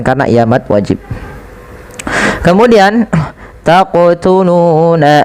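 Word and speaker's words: تقتلون: Taqtuluna. Seperti itu. Kemudian panjangkan lu 2 harakat karena ia mad tabi'i.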